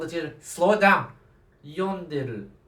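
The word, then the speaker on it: 読んでる: See how I just changed the stress of the syllables? It changes the meaning.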